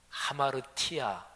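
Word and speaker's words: ἁμαρτία: 왜곡 그게 웅크리고 있다는 거지요 죄라는 단어가요 헬라어로 하마르티아 이렇게 발음합니다 근데 원래 그 단어에 어의적인 뜻이 과녁에서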